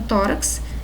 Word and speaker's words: tórax: nós horário sintaxe exorcizar então tórax é a única palavra aí tá que traz o som apresenta o x com som de ks tá bom gente então